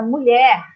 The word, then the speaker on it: mulher: O LH, você só ouve um som. Então, a divisão silábica, a divisão da sílaba, a divisão da palavra mulher, tá?